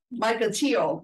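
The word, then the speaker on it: Mukilteo: Michael Teo, okay, in Washington State, which means this friend of ours has been up for some time.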